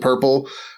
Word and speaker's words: prpl: core library's named lib purple which is a derivative of we used to abbreviate protocol plug-ins as prpl that people would pronounce purple and the reason everything